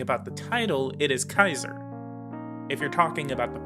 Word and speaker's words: Caesar: or kaiser the letter c is always hard in latin so like a k the a e diphthong